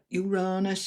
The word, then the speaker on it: Uranus: Uranus, Uranus, depending where you are in the world, different pronunciations in Gemini is about